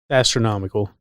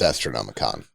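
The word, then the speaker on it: Astronomican: Astronomical, right. Let alone a Grey Knight. Let alone a Grey Knight. It's pronounced Astronomicon.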